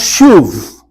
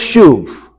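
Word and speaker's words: שוב: the Hebrew word that is used here it's pronounced shuv. That's the Hebrew word. And I can tell from your face, you're all saying, oh, now it makes sense. Okay? It's pronounced shuv.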